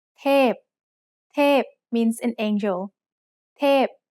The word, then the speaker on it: เทพ: เทพ is a falling tone. Now let's write it. สระเอ ทอทหาร พอพาน เทพ Remember that most vowels come in long and short pairs.